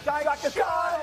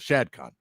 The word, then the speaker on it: Shad Khan: Shad Khan is how you say his name.